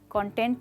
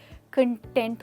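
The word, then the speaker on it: content: जब आप संतुष्ट होते हैं तो आप क्या होते हैं, कंटेंट नहीं दोस्तों, आप कंटेंट होते हैं। तो मेन डिफरेंस यहाँ पर टेंट में नहीं है, कौन और कन में है।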